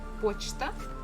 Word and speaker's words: почта: And the last one we have the word почта, post office, and here stress falls on O, that's why we have pronounced it as it is.